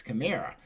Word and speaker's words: Kamara: Was Alvin Kamara, and Jeff has gotten on me about the way we pronounce Kamara. Apparently it's Kamara.